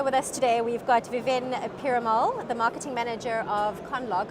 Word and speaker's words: Viven Perumal: and over here with us today we've got Vivint pyramol the marketing manager of conlog I hope I pronounced your name correctly that's correct thank you